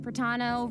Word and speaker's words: Pratano: Hey everyone, I'm Pratano, rhymes with Capitan.